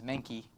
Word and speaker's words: Menke: you get manked by i pronounce it makes even though my last name is menki because it's just one syllable that's a little bit lazy that way so anyway if you